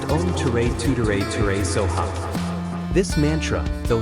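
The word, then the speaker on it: Om Tare Tuttare Ture Soha: Tara is believed to respond quickly to those who recite her mantra, Om Ter Tutter Tor Sva, pronounced Om Ture Tutere Ture Soha.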